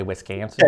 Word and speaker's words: Wisconsin: It gets the right way, Wisconsin?